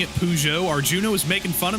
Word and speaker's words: Peugeot: earlier this year now thank you for also pronouncing it pujo Arjuna was making fun of me for that